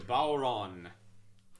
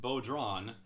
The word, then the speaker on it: bodhrán: instruments with matt today's featured instrument is the bauron that's right it's not pronounced bodron as i grew up thinking it was but